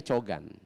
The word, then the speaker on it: Jogan: Tulisannya adalah Jogan, tapi dibacanya Cogan.